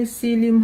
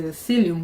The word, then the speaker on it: psyllium: You can show them this thing when you go, because some of them will be trying to pronounce the psyllium with a P.